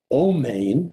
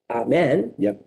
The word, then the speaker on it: Amen: opposed to shabbat shalom you will hear people pronounce Adonai as adonoi you will hear people instead of saying bomb men will say o main o main that again is in Israel you say Amen you say Amen and you say Adonai I